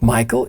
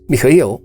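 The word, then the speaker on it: Михаил: And my original name, it's actually not Michael, it's Michael, because I come from Bulgaria, and I know it's very difficult to pronounce for most people, so very often people tend to call me Michael or.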